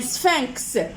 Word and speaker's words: sphinx: Un sphinx, X se prononce.